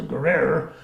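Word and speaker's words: Guerriere: a ship called the hms Guerrera or gary air gary a the french would pronounce a ger error which basically the french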